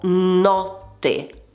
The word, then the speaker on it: notte: Pensa ad esempio alla parola notte. O o notte o aperta.